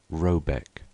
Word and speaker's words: Råbäck: The manor-house, or herrgard, in question is to be called Råbäck (pronounced something like Roebeck), though that is not its name.